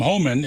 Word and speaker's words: Homan: of like tariffs in res in Reverse Tom Homan is that how you pronounce his name yes oh man man H